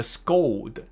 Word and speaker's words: scold: D 的结尾先讲出来，不就是 old 吗？old 前面加一个 sk，所以就变成了 scold scold。So my mom has been scolding me for